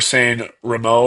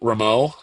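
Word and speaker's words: Sanremo: Um he said that we're saying Remo wrong. It's I'm going to find it. Ramo. It is pronounced saying Remo, not Rammo.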